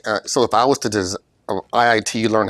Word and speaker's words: IIT: Yes, IIT, not ITT.